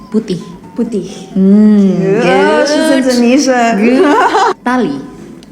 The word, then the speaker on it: putih: Indonesians, you have to kind of like pronounce the H at the end. Putih.